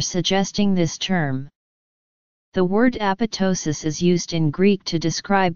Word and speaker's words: apoptosis: clearly we propose that the stress should be on the penultimate syllable the second half of the word being pronounced like ptosis which comes from the